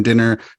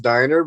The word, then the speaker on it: Dynner: the show Professor dinner Professor dinner welcome thanks it's actually pronounced Diner but that's okay Diner I should have